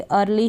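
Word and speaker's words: early: अब इसको एयरली नहीं पढ़ेंगे, अर्ली ही पढ़ेंगे, जल्दी।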